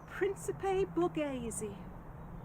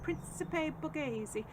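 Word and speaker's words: Principe Borghese: to grow those um red cherry and and Principe Bazi you say it like that Principe Bazi which is the classical Italian sundried variety so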